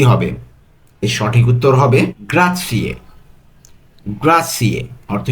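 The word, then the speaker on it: grazie: গ্রা জি আর এ জেড আছে তো জেডটা ত এই যে ত আর সি এটা একসাথে উচ্চারণ হবে তাহলে গ্রাথি অর্থ ধন্যবাদ এটা আমরা সবসময় ব্যবহার করে থাকি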